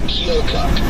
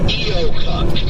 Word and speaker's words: Keokuk: I think the word you were looking for was Keokuk. Trying to figure out how to pronounce that place yesterday. Keokuk. Yeah, I was saying Keokuk.